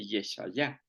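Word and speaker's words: ישעיהו: Por ejemplo, Isaías en hebreo se dice Yeshayah, Jeremías se dice Yirmeyah, pero en el caso de Daniel sí es igualito.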